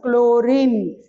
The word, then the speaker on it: chlorine: how you will pronounce chlorine H is silent in pronunciation isn't it so the